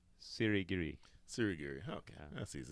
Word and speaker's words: Sirigiri: I may have to help you, or I may have to have you help me with the pronunciation of his last name. Sirigiri.